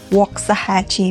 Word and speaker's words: Waxahachie: It's called Wahachi by the way.